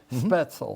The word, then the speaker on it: Spaetzel: Do I have that pronunciation? Spaetzel. Spaetzel. Mm-hmm. Is that like the German noodle? The German noodle, okay.